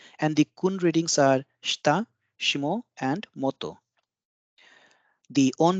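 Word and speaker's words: 下: Kun'yomi, the most popular pronunciation of this character is shita.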